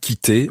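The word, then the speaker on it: quitter: the actions to love to love you love is spelled q-u-i-t-t-e-r and kite means to leave literally to quit so when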